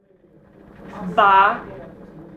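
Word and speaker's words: 八: on the other hand ba rhymes with fa which means wealth so anything having to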